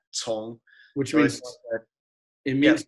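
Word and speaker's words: 从: It's with a C. Tong. Tong. You may have remembered that correctly, but not pronounced it correct. So it's C-O-N-G, right? Yeah, Tong.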